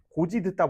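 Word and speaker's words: 곧이듣다: 자, 고지 듣다 보자. 고지 듣다. 듣다를 빼고 고지만 보자고. 곧 이 듣다를 보면 곧다가 어간이고 이가 그 연결음이야. 그래서 곧 이는 어떻게 발음돼? 고디 이렇게 연음이 되거든.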